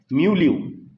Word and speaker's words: milieu: Okay, एक और word है म्यूल्यू, स्पेलिंग है MILIEU, पढ़ते हैं उसको म्यूल्यू।